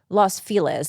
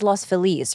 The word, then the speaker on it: Los Feliz: It's like Los It's no one It's not Los Feliz. It's Los Felice, right? But no one knows how to say it right in LA, so Los.